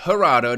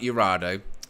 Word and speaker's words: Gerardo: as well um blow says Gerardo not urado apologies my pronunciation you